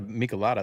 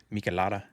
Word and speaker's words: Michelada: I'll be having well, I just had a Michelada. That's a beer, but that's my last beer of the day. So I'll just be having some vodka. Wait, how did you say it? Michelada.